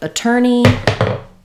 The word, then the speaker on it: attorney: So, for attorney, it sounds like uh ter ney. Attorney. Second syllable stress. And, uh, you can think about that as an er or ur, um, but letters or in attorney, um, say the er sound rather than the or sound.